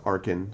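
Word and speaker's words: Arcan: It's pronounced Arkin, so a hard C, but yeah.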